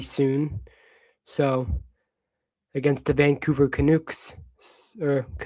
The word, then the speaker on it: Canucks: So against the Vancouver Canucks or Canucks, however you say. Yeah, I say canukes for some reason. And I don't think that's the right way to pronounce it, but Flyers are playing them.